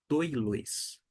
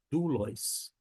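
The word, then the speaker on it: δοῦλος: Por isso que a gente não fala, a gente não pronuncia doilos. Muito menos é um som de U, esse Y. Você não vai falar doulos, e sim du, doulos. Doulos, e fica aqui essa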